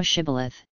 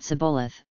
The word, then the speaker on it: Shibboleth: If he said, Nay, then said they unto him, Say now Shibboleth, and he said Sibboleth, for he could not frame to pronounce it right.